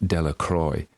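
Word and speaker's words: Delacroix: and Harry Jones and Dicky dequa the villagers pronounced his name deac Croy eventually made a great pile of stones in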